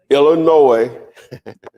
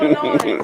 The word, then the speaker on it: Illinois: Illinois, the S is silent. Illinois. You just learned it, so don't. I just learned that. I did too. Okay. I didn't know. I know. That's what I'm saying. It's Illinois.